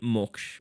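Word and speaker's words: मोक्ष: And moksha. Okay, I know a few of you pronounce this word as moksha. I've heard moksh, the word moksh, when I was in Varanasi.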